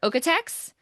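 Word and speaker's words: OEKO-TEX: I will say the two best labels are okex so okex is spelled a little bit weird because it's German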